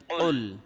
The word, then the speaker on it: قل: قاف লাম পেশ কুল, এটা কিন্তু বড় কাফ। এটা কুল একটু চাপ দিয়ে কলকলার মতো ধাক্কা দিয়ে উচ্চারণ করতে হয়, ঠিক আছে?